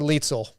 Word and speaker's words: Leitzel: First of all, is your last name Leitzel or Leitzel?